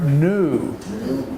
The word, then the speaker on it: knew: is past tense and the K is silent we don't we don't pronounce the K with this verb present tense would be no past tense my father knew now the name Evans